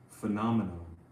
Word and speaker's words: phenomenon: Okay, so the actor's name is John Travolta, and the name of the movie was Phenomenon.